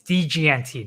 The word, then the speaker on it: DGNT: is dragon master dude can you say my name right it's dgnt not dragonator okay no matter what tech riley might say it's dgnt what's the weather like